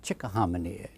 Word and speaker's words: Chickahominy: How do you pronounce it? I'd say grandly, Chickahominy River, that kind of thing.